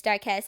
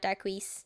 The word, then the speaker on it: Darkess: Some of the names, like Darkess, yeah, that's how you pronounce it, by the way. It's Darkess, it's not Darquise.